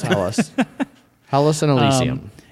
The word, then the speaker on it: Hellas: I was trying to pronounce Hellas correctly. Yeah, it's Hellas.